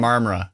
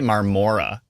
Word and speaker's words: Marmora: Am I pronouncing that wrong again? Because I think I used to say You were right that time. Marmora. Okay, I got that one drilled into my head now. Because I used to say Marmora.